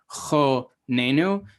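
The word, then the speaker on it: חננו: So this word is pronounced chonenu because when you break it up into its syllables, then you recognize that the accent is here and the penultimate. You know that it makes an O sound because, again, that A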